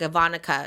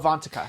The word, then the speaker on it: Avantika: Like Ivanka, is that how you say her name? Ivanka? Oh, Avantika.